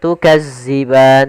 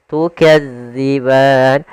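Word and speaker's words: تُكَذِّبَانِ: Hati-hati dalam melafalkan huruf dal karena di sini bukan huruf za. Jangan tukazziban tapi dia tukadziban.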